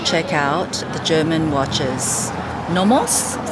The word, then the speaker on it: NOMOS: just wants to check out the German watches nomos is how you say it nomos glash made